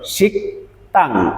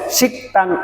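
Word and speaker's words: 식당: আমাদের যে শব্দটি আছে এখানে আপনার এই শব্দটির উচ্চারণ শিকং অনেকেই এর উচ্চারণ করেন এটি ভুল উচ্চারণ আমাদের বিয়োগ বাচ্চিমের পরে যদি দ্বিগু থাকে তাহলে এর উচ্চারণ হয় তাহলে শিকতাং এর অর্থ কি শিকতাং এর অর্থ হলো রেস্টুরেন্ট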